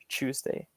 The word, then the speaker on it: Tuesday: In the British standard, it would be Tuesday wouldn't be that t noise, it's chu. That Tuesday, on Tuesday. Sometimes it's a little harder, and some British people don't say it like that, but that's standard, Tuesday.